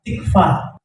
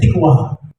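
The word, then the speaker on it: תקווה: Tuhan apa sih harapan dalam bahasa ibrania tikfa di bacanya tikwa Ya tikwa tikwa itu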